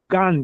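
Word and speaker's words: גן: Gan g a n gan, jardim.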